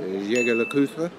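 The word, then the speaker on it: Jaeger-LeCoultre: Jaeger Le-Coultre. Oh, and good pronunciation.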